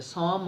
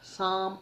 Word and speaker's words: Psalm: song of life now p is silent here and it is pronounced